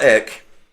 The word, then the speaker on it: Ek: Um you can do that on the basic artist plan, but Daniel Ek, I think that's how you say it. It's just ek.